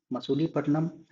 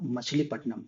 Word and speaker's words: मछलीपट्टनम: Actually मसूलीपट्टनम नाम नहीं था। एक्चुअली नाम था मछलीपट्टनम बट अंग्रेज इसे प्रोनाउंस नहीं कर पाते थे इसलिए इसका नाम मसूलीपट्टनम वो प्रोनाउंस करते थे।